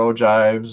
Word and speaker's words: ogive: one clarification it's spelled o-g-i-v-e like spelled and it looks like it's spelled o give no it's ogive the g is pronounced like a j okay no i just